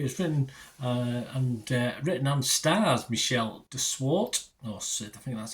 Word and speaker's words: de Swart: It was written and stars Michelle de Swart. I think that's how you pronounce it. No thing over the E, so I don't think it's Swarte. Michelle de Swart.